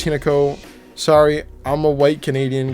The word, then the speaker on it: Hinako: And I realize I've been saying her name I've been pronouncing it like two different ways. I've been saying like Hinako and Hin. I believe it's Hinako.